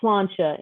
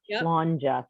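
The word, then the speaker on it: Sláinte: back there yes i am and and it's pronounced slancha in ireland not slandja flanges scottish just fyi what if you're both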